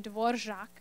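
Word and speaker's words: Dvořák: There's a sound in Czech that is really difficult to do. It's actually in the name Dvorak. It's the rž sound, rž, which is an R with a little squiggle on it.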